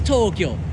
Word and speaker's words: Tokyo: It is Tokyo. Look at the long O and the long long O's. They're both long.